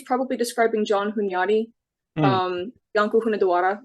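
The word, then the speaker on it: Iancu de Hunedoara: Janko Hunadawara would be how his name is pronounced in Romanian, but that being something along the lines of John the Hungarian.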